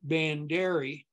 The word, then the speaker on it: Bandera: 120 miles down to Medina Bandera pass they would have called it banderi in the old days once again I can't